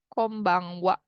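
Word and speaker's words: こんばんは: yang benar adalah D, "Konban WA" menggunakan H, kan. Hmm. Karena, um, untuk WA, tidak menggunakan huruf "wa" tetapi menggunakan "H", kan. Meskipun hurufnya " H", dibaca sebagai "wa" karena di sini merupakan partikel.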